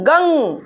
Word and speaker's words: गं: ओम गंग गणपते नमः, ओम गंग गन नहीं है, गंग ग के ऊपर बिंदु अच्छे से प्रनाउंस करो।